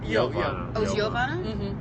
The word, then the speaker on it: Jovana: Joan it's perfect yeah yovana cuz I went to school with a Jovana kaas yeah I mean my name is spell with J but in Serbia we pronounce it as y so it's Yana okay